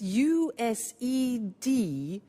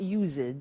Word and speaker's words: used: It's U-S-E-D and then T-O. But the pronunciation is not used, it's used. Unusual. Used.